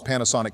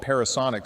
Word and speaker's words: Panasonic: Up next is Donald's Panasonic Q. By the way, when getting things together for this video, I realized we mistakenly called it Parasonic. So, shame on Donald for mispronouncing it.